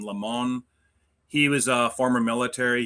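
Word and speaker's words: Limón: Martin, L I M O N, Lemon, I think is how you pronounce his name.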